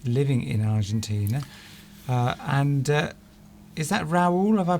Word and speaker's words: Raul: Is that Raul? Have I pronounced that correctly? Yes, I think that's quite good. Yes, I think Raul, because last week we got into a real